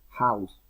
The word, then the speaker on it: house: House, como si fuera una J.